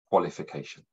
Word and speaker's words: qualification: And the sh is spelt with the letters T and I, like in station and patient. So let's look at the word one more time, qualification.